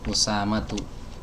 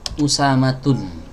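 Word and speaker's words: أسامة: Misalnya Usamah ya, Usamatu. Bukan Usamatun ya, nggak boleh ditanwin.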